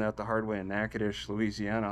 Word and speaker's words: Natchitoches: I learned that the hard way in Natchitoches, Louisiana, how difficult that is. I don't have that. It's Natchitoches.